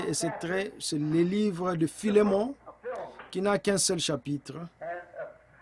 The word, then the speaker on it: Philémon: Donc, quelqu'un a dit là-bas au fond, Philémon, c'est qui je pense vraiment la bonne prononciation.